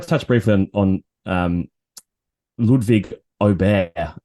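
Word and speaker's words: Ludwig Åberg: touch briefly on um Ludwig obey I believe is now the correct pronunciation uh he he clarified that across the weekend so it's oh there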